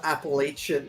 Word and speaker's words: Appalachia: was like Appalachian, but I've heard that they actually people from that region pronounce it Appalachia or Oh, okay. It's not It's not the the sh sound. It's more of a ch.